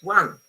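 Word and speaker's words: won: For example, very often students say, oh, I'm not really sure how to pronounce this word, one, okay? But then once they learn that is exactly the same sound as one number, they relax.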